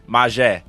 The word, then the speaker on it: Mazhe: You said my name wrong. It's okay. Say it for me. I'm not joking. You did. Mazhe.